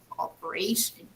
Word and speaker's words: operation: When I say the noun with the suffix shan, the stress, when I pronounce, falls here. Look, operation, operation.